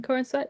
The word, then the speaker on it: Corenswet: Is that how you pronounce his last Mm-hmm. name? Corn sweat.